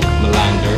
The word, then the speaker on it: Malander: We are going to interview MALANDER.